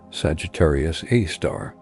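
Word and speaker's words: Sagittarius A*: Our galaxy's central black hole is called Sagittarius A asterisp or Sgr a asterisk for short pronounced Sagittarius A star.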